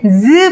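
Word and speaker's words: ㅿ: 발음이 어땠냐면요, 얘는 즈 발음이에요. 느끼한 발음 있죠? 우리 아까 시옷을 뭐라고 했냐면 치아의 모양을 본떴다 그래서 치음이라고 했는데, 이 세모 모양이 이 친구는 스 발음이 아니고 즈 발음이에요.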